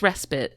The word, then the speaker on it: respite: I think I used that word correctly. You did, but it's respite.